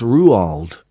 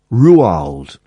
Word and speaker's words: Roald: And the only thing I picked up from it was that is not pronounced Roald. It's pronounced Ruald. Ruald.